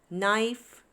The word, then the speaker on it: knife: So here the letter K is silent for each of these words.